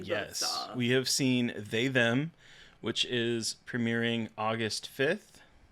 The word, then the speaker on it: They/Them: We have seen They Them, which is premiering August 5th. It's actually pronounced they/them. I got like 45 emails about it.